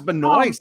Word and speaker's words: Benoist: it's pronounced a weird way, but It's it's Benoit. pronounced how it's spelled. Is it Yeah, Benoit? it's just Benoist. Oh, it's Benoist.